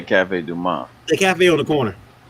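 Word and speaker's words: Café du Monde: Yeah, you don't pronounce the D. Usually Cafe Du Monde. Now you can say Du Monde and all that stuff, but if you're from here, you just say Cafe Du Monde.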